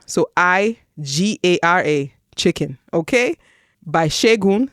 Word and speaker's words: Segun: By Shegun. So Shegun is spelled SEGUN and last name is Johnson.